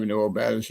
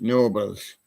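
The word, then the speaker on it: Knoebels: We have Nobels here, but he didn't pronounce it with a K. It's just Nobles.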